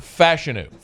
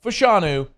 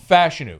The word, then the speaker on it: Fashanu: Fashanu. Not Fashanu. Fashanu. All right. From the source. He says Fashanu.